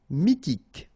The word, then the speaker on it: mythique: And then y pronounced like I mi h is not pronounced mythique d'origine nomade pronounced officiel paranoïque.